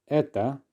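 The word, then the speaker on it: это: masculine noun we will say the same pronunciation for neuter etta because of the reduction yes for plural etie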